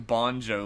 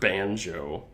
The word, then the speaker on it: Banjo: His name is actually not even Bonjo like we've been pronouncing it. It's Banjo. Banjo. He's they all pronounce it Banjo.